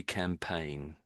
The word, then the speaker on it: campaign: So, it's got this G in there, but it's one of these one of those strange words or ing really that sort of we don't sort of pronounce that the way you might expect it to.